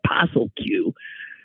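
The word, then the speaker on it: POSSLQ: actually an acronym but if you pronounce it it comes out pel Q came up with a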